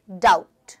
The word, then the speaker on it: doubt: करेंगे डाउट कैसे करेंगे डाउट ओके यहां पर बी साइलेंट है यहां पर टी साइलेंट है साइलेंट होना मतलब उच्चारण